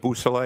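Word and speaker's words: Beausoleil: Could you say that name again and spell it for us? Yes sir. It's uh trooper Jason Busousel.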